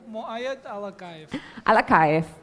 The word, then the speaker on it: Muaed Alakaev: is yours thank you dear you actually have pronounced my name better than most of the people thank you I try my best muayad alak alakay yeah correct okay so the presentation hold the